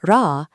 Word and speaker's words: Ra: For Ra, use a lightly tapped R, like the Spanish word pero.